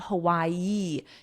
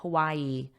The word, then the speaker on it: Hawaii: were days old and notice my pronunciation of Hawaii you have Hawaii Hawai you have that ye sound at the end Hawaii Hawaii let's continue the Saga